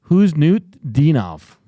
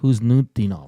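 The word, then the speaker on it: Khusnutdinov: Huznutdinov. Marat Huznutdinov.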